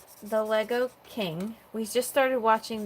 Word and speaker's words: Lego: she said I love Lego see you know the proper way to say it don't you Lisa yeah everyone says Legos so it's the guy